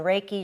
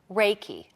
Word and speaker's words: Reiki: just a minute because Reiki so that's our e I ki what right it sounds like a foreign word okay well Reiki is a word japanese word and ray rei is pronounced ray and it is spiritual